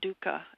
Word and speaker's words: dukkah: I think one that I love to talk about is called dukkah, and it's a condiment.